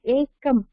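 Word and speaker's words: एकम्: One ekam. அதுல அந்த first இது எப்படி சார் ப்ரொனவுன்ஸ் பண்ணனும்? ஏகம்க்கு ஏகாரஹா அது வவல் அவ்வளவுதான். ஏகாரஹா ககாரஹா பிளஸ் அகாரஹா பிளஸ் மகாரா ஏகம்.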